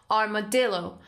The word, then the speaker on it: armadillo: working armadillo armadillo armadillo okay stresses on dillo armadillo uh too far savage